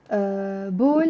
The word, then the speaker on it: بول: Bol means urine. فحص means test. Urine test. فحص بول. It's an easy word to remember. You can just remember the word ball.